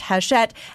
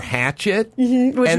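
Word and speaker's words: Hachette: it's not happy yeah it's spelled hatchet with a CH but I think it's pronounced hash shet as per the KFI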